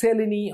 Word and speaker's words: Mseleni: Then MSELENI, it's called, M is silent, pronounced as Seleni osteoarthritis.